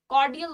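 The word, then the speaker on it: cordial: spelling पे ध्यान दो आर को प्रोनाउंस कर नहीं करते कॉर्डियल बोलते हैं ना की कॉर्डियल लेकिन एक सेकंड के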